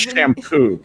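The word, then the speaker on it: Champoux: anyway block mp martin shampoo his real name that's an unfortunate name c-h-a-m-p-o-u-x that is pronounced shampoo even as a frenchman that's an unfortunate part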